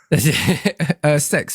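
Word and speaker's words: CeX: It's not how you pronounce it, but yeah. Sex. Went to Pronounced sex.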